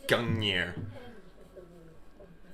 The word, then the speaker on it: Gungnir: Gungnir. So that's how you say it. I've always pronounced that like Gungnir.